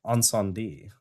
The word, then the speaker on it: Incendies: Also, I believe it's Ensendé. Not to be an asshole, but no, I'm sorry. I don't know how to pronounce films when I'm around you, Kevin.